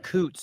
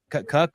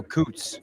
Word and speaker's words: Coots: It's a piece of paper, and I wrote Coots, so I would know how to pronounce his name, and I drew a picture of a duck, Coots, so I won't get it wrong anymore. I won't call him Cuck or Koosie.